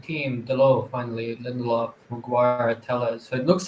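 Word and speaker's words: Telles: Yeah, and Tellez, his name is pronounced Tellez.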